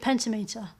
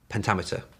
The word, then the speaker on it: pentameter: I think you're talking about amic pentameter. Uh, which is the way that kind of amic pentimeter. Pentameter.